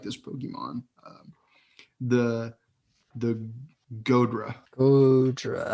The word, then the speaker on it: Goodra: The Godra. Godra. How do you spell that? Godra. G-O. Goodra.